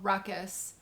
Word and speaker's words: Ruqqus: that message birth site it's called ruckus ruckus calm but it's spelled ruq qus calm and so I